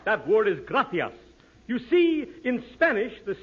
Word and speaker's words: gracias: okay muchas gracias amigo no no no not gracious that word is gracias you see in Spanish the see is pronounced th krithia you see th your mind